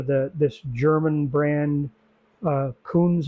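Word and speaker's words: Kunz: this German brand uh Coons I believe is the kect pronunciation KU n z um they're not very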